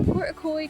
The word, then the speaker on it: Portacloy: It was called Portacloy, so I was saying it wrong in all the clips earlier, but basically it's just